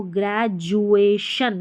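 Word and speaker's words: graduation: यहां पर लिखा है और सी आई का उच्चारण श यहां पर देखिए सी आई और टी आई को श पढ़ते हैं।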